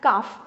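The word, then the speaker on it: calf: उसे काफ कहते हैं सी ए एल एफ काफ ठीक है एल इज साइलेंट सो इसी तरह भेड़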